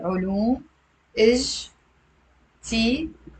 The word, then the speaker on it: علوم اجتماعية: علوم اجتماعية. علوم. يلا say out loud with me. علوم اجتماعية. It's 5 syllables.